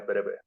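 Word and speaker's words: Breuer: el Alemán es que se escribe con u no con w pero comúnmente se pronunciaría breve Pero como estamos en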